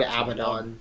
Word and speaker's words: Abaddon: Abaddon is now at large, and yeah, GW put out an official pronunciation video where they said Abaddon.